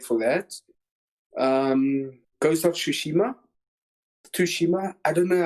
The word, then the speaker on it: Tsushima: pronunciation of it but the one guy said if you want to say um ghost of Tsushima you just say sushi that he disappeared too